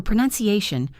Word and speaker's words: pronunciation: For pronunciation, remember to swap the ounce for none. You pronounce, but the pronunciation has a none in the middle.